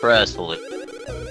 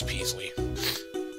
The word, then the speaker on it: Peasley: came to help Prince Presley py is that Presley oh oh okay yes Presley as the El is Presley no it's supp pronounce as Prince Peasley oh yeah there are